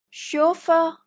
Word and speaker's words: chauffeur: Almost the same pronunciation, it's just a type of fabric. Chenille. Chauffeur or chauffeur.